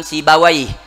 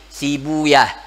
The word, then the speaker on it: Sibawayh: ulama lughah itu lebih suka membaca Ibnu Rahawayh, namun ulama hadis yaitu lebih suka membaca Rahuyah, yaitu untuk setiap nama yang belakangnya ha, yaitu seperti Al-Imam Sibawayh, yaitu banyak kalau ulama hadis lebih suka membacanya Sibuyah. Ada Al-Imam Niftawayh, itu kalau ulama hadis lebih suka membacanya Niftuyah. Nah, itu daripada cara bacanya.